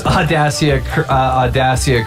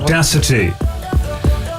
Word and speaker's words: Audacity: Like, Okay, well, apparently Leafy's Audacia crash. What am I saying it wrong? Audacity.